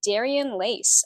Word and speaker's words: Darian Leyce: deep conversations with freelance models today I have Daran lace on the episode how's it going hi great did I pronounce that right I just want to make